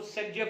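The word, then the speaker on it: Zaitsev: No doubt उसको सेट-जेव rule बोला था, दैट इज अ प्रोनाउंसिएशन। ठीक है, बट जेटसेव अलेक्जेंडर जेटसेव ने का रूल था वो, बट उसको अपन प्रोनाउंसिएशन क्या बोलते थे, सेट-जेव रूल।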